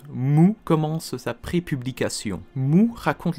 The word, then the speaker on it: MW: du manga osamu tezuka ce manga mw qu'on prononce mou commence après publication nous